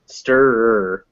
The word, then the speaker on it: stir: of this yeah yeah so stir can be very difficult because it's two it's schwa r schwa r stir yes and it's always